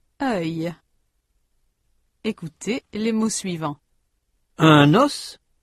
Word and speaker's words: os: Notez que dans ces mots, la consonne finale ou semi-voyelle final dans le cas de œil prononcé au singulier n'est pas prononcé au pluriel.